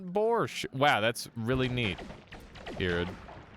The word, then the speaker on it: borscht: It turns out the T is because the word came to English through Yiddish, aka Jewish German, and it's spelled weird like that.